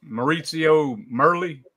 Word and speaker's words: Maurizio Merli: It's because of him is Maurizio Merli.